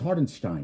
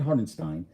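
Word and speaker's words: Hartenstein: It's Hardenstein, not Hardenstein. Guys, get it fucking right, man.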